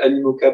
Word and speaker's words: Animoca: le mastodonte du jeu vidéo blockchain, qui s'appelle Animoca Brands, comme ça se prononce, A-N-I-M-O-C-A, qui est une boîte à Hong